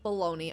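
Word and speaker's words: bologna: cut yep balagna sandwich with balone I know how to say it I just always say balagna with lace chips on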